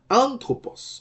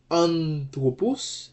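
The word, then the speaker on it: ἄνθρωπος: When looking at the word anthropos, anthropos is normally accented on the antepenult. Okay? So the accented syllable is an in the word anthropos.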